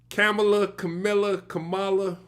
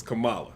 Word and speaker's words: Kamala: She said it's comma with a Allah at the end, like the word, like a comma in a sentence, and then so it's Kamala.